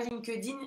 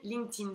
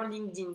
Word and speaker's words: LinkedIn: Pas LinkedIn, LinkedIn, ça se prononce. Éventuellement LinkedIn si vous voulez. Mais c'est vraiment LinkedIn et c'est un réseau qui est incontournable au Canada.